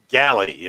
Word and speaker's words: Gally: Galley. Okay, yeah, that's right. Or Gary, depending on Is how you Alita want to also?